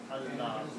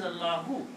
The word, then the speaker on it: Allahu: So this will become, if I write down together, it will be written as Allah. The word, full word is Allah. If you stop, then you don't pronounce the last letter.